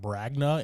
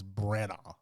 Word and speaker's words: Branagh: Kenneth branagh's movies my entire life it's not bragna it's Brenna I'm gonna pronounce that right one of these days yeah